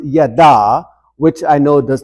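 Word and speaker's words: ידע: the word for chosen in Hebrew which is pronounced yada which I know does not really help matters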